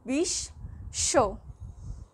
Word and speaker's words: বিশ্ব: স্বয়ের সাথে বফলা যুক্ত থাকার ফলে এই স্বটা 2 বার উচ্চারিত হচ্ছে, বিশ্ব।